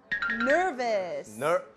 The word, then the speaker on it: nervous: Nervous. 발음이 nervous라고 하시는 분들이 계시는데 nervous가 아니죠? 네, nervous죠. 약간 V 발음이에요.